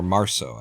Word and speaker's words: Março: Or Março, I believe, in Portuguese is how it would be pronounced.